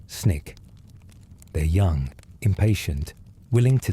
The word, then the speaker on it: SNCC: The students organize themselves into the Student Nonviolent Coordinating Committee, SNCC, pronounced SNCC.